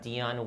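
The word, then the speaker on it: Dionne: So hers is Deandra Dion, D-I-O-N-N-E, Wade. Mine is, D-E-O-N, Dion, and Dion Jr. Okay. So we all have the same middle name, pronounced the same, spelled differently.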